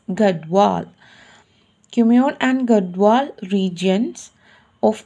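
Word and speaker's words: Garhwal: of kumayon and gowar thus the correct pronunciation of garwall is gadwal kumyun and gadwal regions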